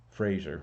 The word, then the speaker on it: Fraser: so nobody ever told Frazier rhymes with laser nobody told Frazer that